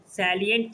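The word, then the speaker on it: salient: constitutional post powers सैलिए सैलिएट features feature मतलब विशेषता सैलिएट सैलिएट का मतलब होता है यूनिक सैलिएट सैलिएट मतलब यूनिक सैलिएट मतलब यूनिक साइलेंट नहीं सैलिएट नॉट साइलेंट सैलिएट सैलिएट फीचर सैलिएट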